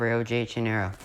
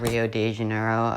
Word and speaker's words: Rio de Janeiro: into the bay of rio de janeiro that's right it's not rio de janeiro americans and anyone who pronounces that it's rio de janeiro this is portuguese land not spanish anyways the french who